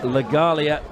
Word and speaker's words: Legalia: message pass to me that it's legalia is the correct pronunciation of Ollie legalia the